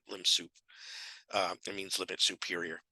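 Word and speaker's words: lim sup: top of a or it's sometimes referred to as limb soup of a which is you that's how I will refer to it limb soup uh it means limit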